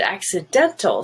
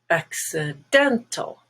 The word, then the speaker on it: accident: be green look at accidental stress is on the e which is red everything else is uh accidental accident has a stress on ah which is black the other two are schwa accident finest is white but